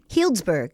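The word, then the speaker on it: Healdsburg: grew up on a quarter horse farm in heroldsberg California Hillsburg Hillsburg yeah yeah Windsor kind of Santa Rosa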